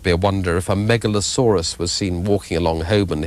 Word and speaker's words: Megalosaurus: hog goblin number six they Megalosaurus that's the way pronounce it the Megalosaurus yes that's a line